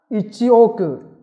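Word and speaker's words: 一億: 8 con số 0 ở sau con số 1 thì chúng ta đọc là Ichioku.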